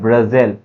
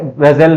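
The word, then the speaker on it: Brazil: ब्राजील। आप लोग उसको ब्रुजल ब्रुजल बोलते पता नहीं क्यों, इसका क्या है प्रोनाउंसिएशन सही है?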